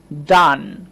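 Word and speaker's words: done: এটা আমরা উচ্চারণ করব ডান।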